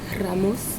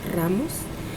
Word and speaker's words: Ramos: Ramos is the real way you say it. So a Spanish person will pronounce my name Ramos. But I just usually say Ramos for people, you know, to just